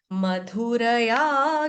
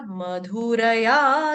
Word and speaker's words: मधुरया: ऐसे नहीं बोलेंगे मधुरया मधुर्य जैसे हम कहते हैं नाधुर्युर्य मधुर्य नहीं है। क्या है? मधुरया र पूर्ण आना चाहिए। या इसका उच्चारण स्पष्ट रूप से या होना चाहिए। आ नहीं होना चाहिए। मधुरा नहीं होना चाहिए।